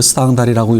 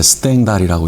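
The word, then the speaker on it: Stendhal: 여러분들은 혹시 모를지 모르겠는데 프랑스의 19세기 전반기에 스탕달이라고, 원래 그 스탕달이라고 읽으면 안 되는데 스탱달이라고 읽어야 되는데, 스탱달이 쓴 적과 흑이라는 책이 있습니다.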